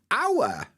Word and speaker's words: hour: hello hotel or horrible but hour I think everybody skips the H I think if you look in the dictionary it won't have a h at the beginning of the word uh because